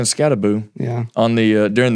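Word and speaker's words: Skattebo: looked really good and Bo scabo is a scabo that's that's his name that's how they pronounced it during the game is it boo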